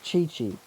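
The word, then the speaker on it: Qiqi: But I'll probably go for a little Kiki here, or Chi-Chi. I keep forgetting that QI is pronounced Chi-Chi because of where it comes from.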